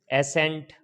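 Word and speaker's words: ascent: अगर एस के बाद सी आए तो साइलेंट हो जाता है। जैसे एसेंट, एसेंट में क्या हुआ है, एस के बाद सी आया है तो साइलेंट हो गया है।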